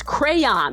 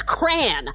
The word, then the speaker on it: crayon: How do you pronounce crayon? That's how I pronounce it. With 2 syllables, like a normal person. Who says crayon?